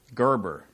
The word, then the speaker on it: Gerber: be Kaa ka ka Gerber I know how to say the last name like Gerber baby food all right turns 22